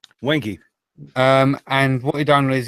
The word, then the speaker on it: Wenge: Basically, he turned the bowl out of, is it pronounced Wengi or Wenger? Wengi.